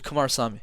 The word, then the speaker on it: Kumarasamy: And so you give us the correct pronunciation of that before we finish. No, you got it, actually. Kumarasamy.